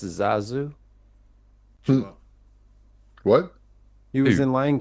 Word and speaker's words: Zazu: His name is pronounced Zazu.